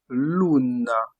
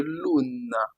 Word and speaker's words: luna: Le u en français se prononce en italien ou ou ou. Par exemple, dans le mot Luna, on dit loun. Luna Luna qui signifie en français lune. Lune.